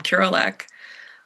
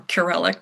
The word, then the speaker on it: Kurelek: closet, and it was a painting by William Kurelek um or Kurelek, depending on how you'd like to pronounce that.